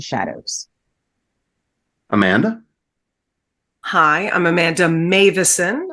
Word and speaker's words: Meuwissen: Hi, I'm Amanda Meuwissen. I know that's not at all what my name looks like, but that's how you pronounce it.